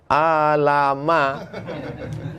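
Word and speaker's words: ألم: Kalau dari PDF, alama, alam nasrah dengan alif lam mim sama tulisannya. Syekh Muhammad Mutawalli Sya'rawi pertama tahfiz Quran kan gitu, dikomplainnya gurunya. Itu tunjukkannya. Ini alif lam mim, kenapa di sini bacanya alam? Kenapa di sini alif lam mim? Itu tahu lewat talqin.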